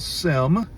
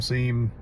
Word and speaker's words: SIEM: want to talk about Sim Siem security incident event management however you want to pronounce it Sim seam it's all an acronym soup